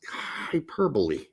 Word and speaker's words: hyperbole: No, it's like, no, guys, it's hyperbole. Oh, okay. Anyhow, that's how it's pronounced.